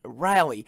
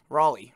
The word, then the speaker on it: Raleigh: snow really filled in notice norfolk rally or rowley i should say raleigh raleigh there we go that's how you say it um uh you can